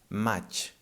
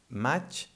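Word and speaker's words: maig: And these two letters, the I and the G, they combine and they make the ch sound, like in chocolate, for example. Match. Match, by the way, means May, the month of the year.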